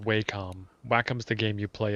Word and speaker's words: Wacom: might be too much it's pronounced waycom wacom's the game you